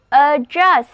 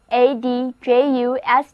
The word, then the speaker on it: adjust: 所以如果我们在 just 前面加上 you and on 前缀表示否定，很显然 unjust, unjust, unjust 就是不公正的，非正义的。如果我们把 you and on 前缀换成 ad 前缀，那么单词 adjust, adjust, 注意字母 d 不发音， read after me, 跟我读这个单词，就是 adjust。